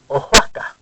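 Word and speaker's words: Oaxaca: a state of Mexico it's spelled like this and the word is ohaka aaka now it has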